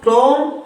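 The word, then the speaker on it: tomb: क्या पढ़ेंगे इसको? टोम। टोम पढ़ेंगे। क्या पढ़ेंगे? टोम।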